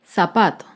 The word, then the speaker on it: zapato: grave sin tilde es la palabra zapato el zapato se acentúa en la penúltima sílaba pero no lleva tilde porque termina en vocal zapatos otro ejemplo de